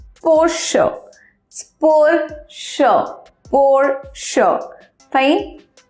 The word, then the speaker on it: Porsche: by it Mucha gente on makalah that it's for sure for sure for sure fine so it's poor